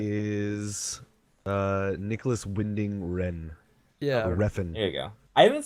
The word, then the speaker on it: Refn: Ren. It's Nicholas Ren, I think. Something. So Oh. it's like a one syllable last name, I think. But It is Nicholas Winding Ren. yeah, Refn.